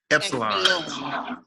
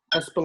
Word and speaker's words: Espolon: Epsilon. Espolon.